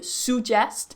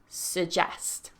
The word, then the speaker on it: suggest: So even though the stress might be right, they're still pronouncing that first vowel as a stronger vowel, when really it should be a schwa, s. So really relaxed, s, suggest.